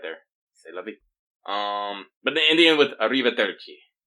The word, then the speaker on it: C'est la vie: Yeah, you spell it cest, but because the French are too cool to pronounce all the letters, it's pronounced C'est la vie. Yeah, Architect's got it right there. C'est la vie.